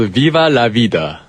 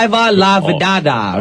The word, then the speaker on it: Viva la Vida: Okay, I was hoping you would pronounce it right, and you did. Yeah. I think it'd be like, I would not. Viva la Vidada or something like that.